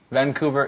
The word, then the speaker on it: Vancouver: Vancouver is also in Washington State.